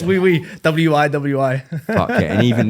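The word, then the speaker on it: wiwi: Is it wee wee? Yeah, it's wii. W-I-W-I. Fuck yeah. And even then, you'll pronounce it slightly wrong and it'll be like, what, you're not saying yes.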